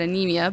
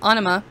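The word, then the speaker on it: Ænima: peach now onima and i know i mispronounced that earlier i said anemia but anima came out in 1996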